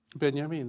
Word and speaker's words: Benjamin: Uh and um beyamin that's right that would be the pronunciation.